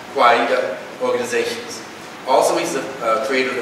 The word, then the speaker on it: Kawaida: He's the executive director of the African American Cultural Center, US, and the National Association of Kwaida, that was one syllable short on that, Kwaida organizations.